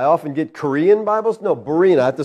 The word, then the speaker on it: Berean: your church I often get Korean Bibles no Barina have to spell it every time maryam ber EA and Maryam